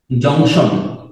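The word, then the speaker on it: junction: railway জংশন গুলা আসলে এই শব্দটাকে আমরা বাংলায় বলি জংশন ইংলিশে আসলে এটার উচ্চারণ হচ্ছে জাংশন জাংশন জাংশন মানে সংযোগ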